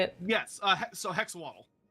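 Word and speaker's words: Hexoatl: Yes, so hexawaddle. Hexawaddle, like axolotl. Okay, I wasn't sure. Actually, it should be heshawaddle technically.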